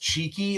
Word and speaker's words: Chiqui: has always called you cheeky yes and it's spelled I wrote this down just for those of you that are looking up his work it's pronounced cheeky like you know cheeky but it's c-h-i-q-u-i and